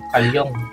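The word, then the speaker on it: Carl Jung: Ang isa sa theory ni Carl Jong, well Carl Jong pero sabi nila ang tamang pronunciation niya is Carl Jong. Carlong Carlong 'no?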